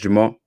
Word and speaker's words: Jamil: Because I know it maybe look like it's spelled Jamil, but it's pronounced Jamal.